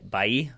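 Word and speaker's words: Bailly: two since I doubt Eric by bayi i think is how you pronounce that one even though it looks like Bailey I doubt he'll get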